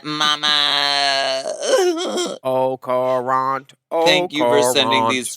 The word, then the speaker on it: au courant: Au courant. How you spell it? The T is silent. Mama, this T is silent. This T will never be silent, Mama. Au courant.